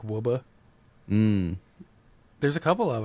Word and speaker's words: Woburn: It's well, there's the one that's like Woburn, but it's like Wubba.